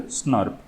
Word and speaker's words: snRNP: They are pronounced as a SNRP, although its short form is small nuclear RNP complex.